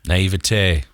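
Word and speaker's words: naïveté: a lot of just naivety is that how you say it naivete naivete and so um i'm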